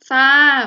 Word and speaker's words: ทราบ: ทหาร ควบ กับ รอ เรือ จะ มี ด้วย กัน มาก มาย หลัก หลาย คำ เลย ค่ะ เช่น คำ แรก ทราบ อ่าน ว่า ทราบ มี ทราย อ่าน ว่า